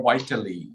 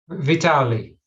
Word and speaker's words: Vitaly: So, am I pronouncing your name Vitaly or Vitally? I mean, Vitaly. Vitaly. Yeah, Vitaly.